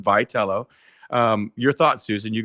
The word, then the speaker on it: Vitello: Tony Vatello, the new manager, Tony Vitello, the new manager of the San Francisco Giants. That's how it's pronounced. Vitello.